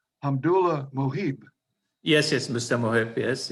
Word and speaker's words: Hamdullah Mohib: United States from Afghanistan, was, if I can pronounce his name correctly, Hamdullah Mohib.